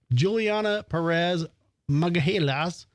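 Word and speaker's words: Juliana Peres Magalhães: and his family's then 22-year-old Brazilian au pair, Juliana Perez Magahelas, are accused of killing.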